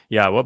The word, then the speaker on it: Yahweh: yahwa heard about this Yahweh by the way is the proper pronunciation of yod wah Our elah God as